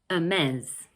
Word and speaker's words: Hermès: Okay, in this next brand, we don't pronounce the H at the beginning of the word, like in French actually.